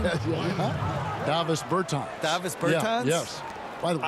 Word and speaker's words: Davis Bertans: Oh, well now, at this point in my life, it's Davis Bertans. Is that how you say his name? Davis Bertans. Davis Bertans?